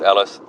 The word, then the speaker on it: Ellice: That's ELLICE. I'm sure it's just pronounced Ellis. I was trying to emphasize the fact that it has ice in it.